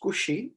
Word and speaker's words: Cauchy: will keep it conceptually correct okay but it's pronounced cushy we can pronounce koshi also because okay so basically koshi's mean value